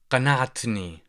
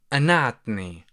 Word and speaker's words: قنعتني: Also, you might hear that in dialect, people tend to pronounce the letter qaf as the glottal stop. So So you would hear people say anatini, or for the masculine, in fact, here you would say anatni, anatni, anatni. And if you're talking to feminine, you would say anatini, anatini, anatini.